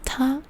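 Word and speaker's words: 田: And it's usually pronounced as ta or da.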